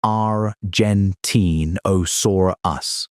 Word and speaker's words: Argentinosaurus: Because Giggonotosaurus shared its ecosystem with Argentinosaurus, pronounced Rentine Osaurus.